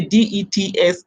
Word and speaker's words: debts: that's that's they said the B is silent so me I'm wondering if DP is silent why did they put it because they have just say dets of all the killing